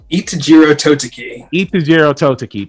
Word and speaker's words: Itejiro Toteki: can't say his name what is his name itajiro totoki thank you now i read the manga right